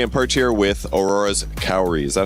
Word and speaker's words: Kaori: Hey, I'm Porte here with Aurora's Kaori. Is that how you say it? Kaori?